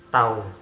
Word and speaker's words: tau: Ya, simbolnya adalah seperti huruf T, yaitu bacanya adalah tau itu ya. Bukan tahu ya, tahu kendal gitu ya.